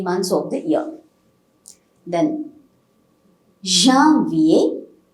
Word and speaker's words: janvier: Now, January is janvier. You get a nasal pronunciation here. It is not a janvier. It's not a janvier. It is janvier.